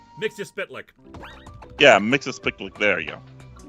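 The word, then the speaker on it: Mxyzptlk: that mixie picked mixed your spit lick yeah mixes pick like there you go it's a hard name and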